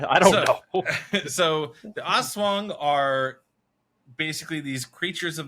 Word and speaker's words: Aswang: a-s-w-a-n-g a swap swing are we pronouncing it right first off like I did uh I did look I did look that up I'm at least as close as white people can pronounce it we're like highly confident it's not ass Wing no it's not ass